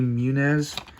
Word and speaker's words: Muniz: what's his name is Frankie Frankie Muniz that's how you pronounce it he was a big